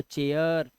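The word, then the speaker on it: chair: लिखना सीख जाओगे आप जब किसी वर्ड में ए आई के बाद आर आ जाए अब ए आई के बाद आर आ गया तो उसका उच्चारण भी ए आ ही करना है आपको जैसे देखो ए आई के बाद आर तो चेयर हेयर ए आ रहा है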